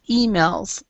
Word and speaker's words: emails: english we actually pronounced we stressed the first e so it's emails from high flying corp